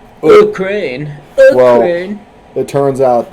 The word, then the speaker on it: Ukraine: You gotta pronounce the U like, Ukraine.